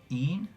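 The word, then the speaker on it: Ene: Een? Nathan asked. The second E is silent, said Nkudabao for clarification.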